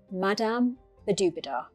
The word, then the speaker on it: Madame Badobedah: Her real name is Irina, but I call her Madame Badobedah. It rhymes with ooh la la.